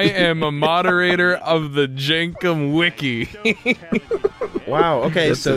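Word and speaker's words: Jenkem: I thought it was Jangum. Is it Jenkum? No, it's K, yeah.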